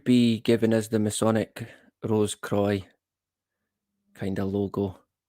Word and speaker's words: Rose Croix: On hearing Rose Cross or Croix pronounced Rose Croix, caught my interest even more.